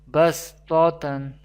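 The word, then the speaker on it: بَصْۜطَةً: We do not pronounce the letter Sod, but we pronounce the letter Seen. Bastatan.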